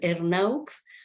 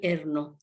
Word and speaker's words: Ernaux: extraordinaria trayectoria Ani erno Yo la voy a pronunciar a los a los a la francesa en silo castellanizamos pues es hernaux pero silo a francesamos es no Ani erno así lo voy a